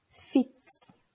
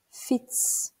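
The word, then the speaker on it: fiets: Okunuşu bazen zor gelebilir. Fits. Fits.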